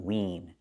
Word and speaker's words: wean: Not win, but wean. We see the EA making the long E sound like green beans. So the first word is win, and the second word is wean, wean. The vowels are different.